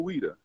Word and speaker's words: Ouidah: Now we are talking to you, who you were in a place called, how do you pronounce it again? Ouidah.